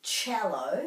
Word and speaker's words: cello: So this is a musical instrument, cello, so it's ch and this is cellophane. So even though the first two syllables look the same, this is ch and this is s.